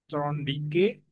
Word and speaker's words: Thorndike: Ee bacanya yang benar apa itu? Edward Trondik.